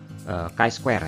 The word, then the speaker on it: chi-square: Kalau orang Indonesia bahasanya uji chi kuadrat. Tapi sebenarnya yang dibaca adalah chi-square ya, chi-square test. Jadi dibacanya seperti itu.